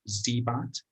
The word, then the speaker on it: Xibot: I think everybody pronounces it different, but I think the standard now is established. It's Xibot, Xibot.